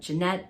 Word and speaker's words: Jeanette: I believe it's pronounced like Jeanette, but with a soft J sound.